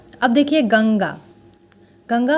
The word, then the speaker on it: गंगा: क वर्ग का अंतिम अक्षर क्या है, अंगा, अंगा के अंतर्गत आ रहा है, इसीलिए हम लोग इसको पढ़ रहे हैं गंगा।